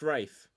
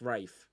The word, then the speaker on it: Ralph: Uh I can't just um type in Ralph or Ray cuz his name is Ralph. It's pronounced Rafe. Is it? Yeah, it's Rafe. Fines. It's not Ray. It's Rafe.